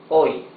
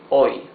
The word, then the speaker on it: hoy: H is muted and can be at the beginning or in the middle of a word. At the beginning or in the middle. At the beginning, an example is hoy. Hoy is today. We saw it here. Hoy. Today. In the middle of a word, alcohol. Alcohol. You see, in both cases, the letter H is completely mute.